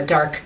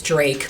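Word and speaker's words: Darke: a town called uh Dark County in it's spelled D a r ke and everyone says Drake but it's dark and the reason Dark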